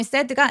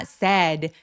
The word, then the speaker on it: said: lie 또렷하게 굉장히 또렷하게 키워드 발음해 주시고요. She said. 여러분 said가 sad 하면 슬퍼요.